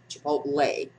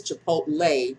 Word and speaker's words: Chipotle: Chipotle. Yes, Devin, I know it's Chipotle, not Chipotle. She straightens me up on how to pronounce it, people.